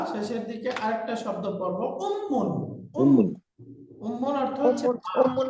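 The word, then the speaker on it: أُمٌّ: যাচ্ছে মাকে আরবিতে বলে উম্মুন উম্মুন কি উম্মুন উম্মুন মা উম্মুন উম্মুন আমার সাথে পড়েন তো উম্মুন উম্মুন উম্মুন উম্মুন মিমের উপরে তাসদিদ আছে তার মানে এই মিমটা দুইবার উচ্চারণ করতে হবে উম্মুন উম্মুন উম্মুন উম্মুন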